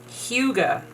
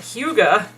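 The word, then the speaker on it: hygge: things we need process is how do you pronounce the word h y g g e let's find out Huga okay that's why I didn't say it and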